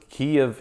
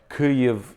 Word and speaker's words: Kyiv: So Kiev is the Russian way of saying it. Right. Kyiv is the Ukrainian way.